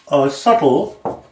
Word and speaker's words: subtle: Subtle has a T in it, a silent T. Not a T is what I meant to say. A B in it. Subtle is S-U-B-T-L-E. It has a silent B in it.